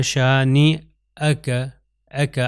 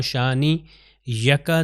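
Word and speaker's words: شانئک: حمزہ آتا ہے۔ تو اس کو کیا تلفظ ہوگا؟ شانی اکا، اگر میں کہوں شانی یکا تو غلط ہو جائے گا، شانی اکا هو الابتر،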